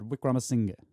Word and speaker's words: Wickramasinghe: listen again promising yeah last part of his name is it actually like two syllables Singha is that yeah yeah I asked him before we started to make sure I was like I want to make sure I'm saying he said Wickramasinghe okay yeah okay couple